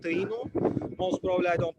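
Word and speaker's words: Taíno: I'm pretty sure that is called Taino. Most probably I don't pronounce it very well, but like, they were making a tea in a specific way.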